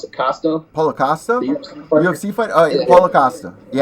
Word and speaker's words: Paulo Costa: Is that how I pronounce it? Costa. Paulo Costa.